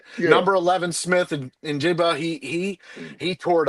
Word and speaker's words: Njigba: Uh Smith Jigba. Uh it has an N and Jigba, I think is how they pronounce it, but it's number 11 Smith. Injigba.